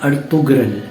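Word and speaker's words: Ertuğrul: अच्छा, अब आप नोट करेंगे कि मैंने जो प्रोनाउंस किया इस वर्ड को तो लिखा तो जाता है अर्तुगरल, लेकिन जी जो है वो साइलेंट है टर्किश लैंग्वेज में, लिहाजा इट्स अर्तुगरुल गाजी।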